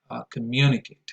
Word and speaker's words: communicate: But then again, the right stress is communicate and collaborate, second syllable, as you can see here.